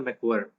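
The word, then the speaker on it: McQuarrie: Christopher मैकवायर है। Christopher मैक्वायर, that's the pronunciation of this, मैक्वायर। Okay मैक्वायर, because ये एंड में भी, आई ई है, सो इसलिए मैंने हाँ, मैक्वायरी ये बोला।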